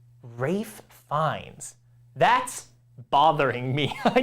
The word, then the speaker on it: Ralph: Googling how to pronounce Rafe yeah it's Ray L is silent no way rape fines